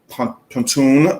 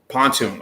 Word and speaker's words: Pontoon: This is from Baton Brewing Company. Again, pronunciation. This is a Pontoon. Okay, Pontoon. Okay, Brewing Company. No. Pontoon. Okay. Pontoon Brewing Company.